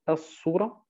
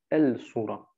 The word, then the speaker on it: السورة: Und Sura gehört zu diesen Lam al-Shamsiyya, wo der L nicht ausgesprochen wird und stattdessen ein Shadda bei dem eigentlichen Wort hinzugefügt wird. Also As-Sura und nicht El-Sura.